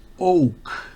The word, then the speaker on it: oak: Como usted podrá ver, oak se pronuncia OU, pero no se pronuncia sino una O, or.